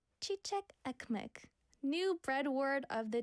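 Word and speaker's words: çiçek ekmek: Oh, I got the pronunciation. Chichek. Chichek ekmek. Chichek ekmek.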